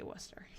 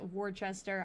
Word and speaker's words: Worcester: Yeah, it is um it is Worcester. That's I'm in Massachusetts and that's how we say Worcester. So, I don't know. Some people probably pronounce it Wartchester.